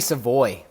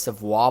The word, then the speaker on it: Savoie: So it's actually Savoy. Savoy? I'll give credit to Adrian Rebello, Rebs. He chirped me about saying Savoie. The correct pronunciation is Savoie, but because he's not from Quebec, it's Savoy.